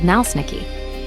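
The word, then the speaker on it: naleśniki: In Poland, thin crepstyle pancakes are called nalsniki, pronounced in a stress l open sie curl i k ma ji.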